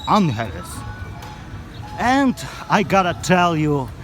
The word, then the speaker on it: Angeles: the city of Angeles that's how its properly pronounced not Angeles its unhealth and I gotta tell